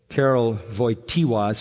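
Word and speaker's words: Karol Wojtyła: his mother when he was 8 years old Carol avoid tea waz how you say his name the Pope had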